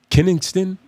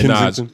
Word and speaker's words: Kensington: Is it Kennington? It's somewhere in You're Philly. pronouncing it wrong, but I think that is the right place. Kennington is somewhere. But yeah, Kensington.